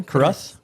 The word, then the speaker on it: Carruth: Is that am I pronouncing that correctly? Carruth?